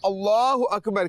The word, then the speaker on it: اللہ اکبر: اللہ اکبر ہوتا ہے, اس کا تلفظ جو درست ہے وہ ہے اللہ اکبر.